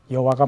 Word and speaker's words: 여호와: 소리라고 할 수 없습니다 그래서 여호와가 맞는지 야와가 맞는지 우리는 모릅니다 최근에는 야외가 더 정확한